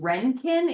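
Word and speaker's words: Röntgen: There's cathode rays and different kinds of rays and this scientist Renkin is how you pronounce his name.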